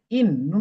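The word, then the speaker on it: إِنَّا: আলিফ জবর না ইন্না ইন একবার না দুইবার তাহলে নুন দুইবার উচ্চারণ হওয়ার কারণ কি? তাশদিদ আসার কারণে নুন কয়বার উচ্চারণ হলো? দুইবার।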